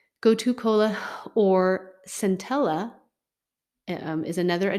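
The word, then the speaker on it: gotu kola: to co kind of it's pronounced Cola but with a K almost like koala but anyways goto Cola T but it's with a K goto Cola or centella um is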